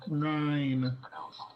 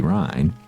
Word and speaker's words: Rhine: It should be pronounced like rain. Yeah. Because it almost sounds like rind with the D.